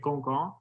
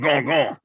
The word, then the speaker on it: Gauguin: So I think, like, if we're gonna say it, like, might as well say like Gauguin. So it's like the French pronunciation. Gauguin.